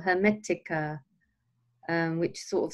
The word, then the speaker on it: Hermetica: No, it's Hermetica.